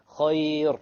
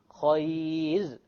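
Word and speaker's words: خير: Khayr. No. Khayr. Light, because there is a ya before it.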